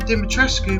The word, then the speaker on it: Dimitrescu: In Romania, the name is phonetically pronounced, including the Escu part of the name in the pronunciation. In the game, however, the French pronunciation is used instead, making it Dimitres.